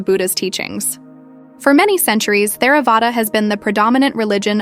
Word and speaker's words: Theravāda: Note: Theravāda is pronounced more or less in American English, like Theravāda. The TH sound in Pali is not like the TH in thick.